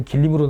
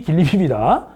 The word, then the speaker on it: 길림: 선생님 어떤 시험에서는 지린으로 나오는데 어떤 데 길림으로 나오는데 이게 왜 그런 거예요? 지린이 길림입니다. 우리식으로 발음한 거죠.